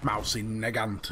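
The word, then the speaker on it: Mosin–Nagant: this weapon off completely, as something like the Mossy Nagant, or Nagant, or whatever you want to call it. Mousy Nagant, as I've been told to pronounce it, as just fluff to make you pre-order Battlefield 5.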